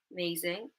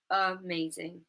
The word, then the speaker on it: amazing: We had it in amazing at the beginning, amazing, amazing, amazing.